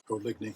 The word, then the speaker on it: Oligny: you can see that how do you say your last name o liy o French Canadian French Canadian I like that yeah